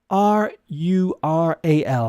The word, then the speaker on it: rural: r and u sounds the pronunciation is rural rural yeah I think it is difficult rural in Ireland we will pronounce the r like the people from the United States or Canada because we excuse me we are uh rhotic which means we pronounce the middle rural rural okay uh